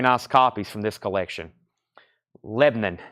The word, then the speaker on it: Lebanon: copies from this collection Lebanon not Lebanon Lebanon Lebanon one syllable if you live here in Tennessee Lebanon if you live in Maryland okay uh uh let's